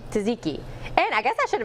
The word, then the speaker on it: Tzatziki: Greek help me out Tzatziki yeah you do so you so you say both Tzatziki Tzatziki and I guess I